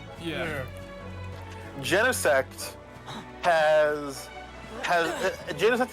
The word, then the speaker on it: Genesect: what's like the lowest i used to call genesect gene sect oh that hurts because i they didn't have a movie and it's literally gene i get it but i think it's supposed to be like genesis kind of it's weird well all right what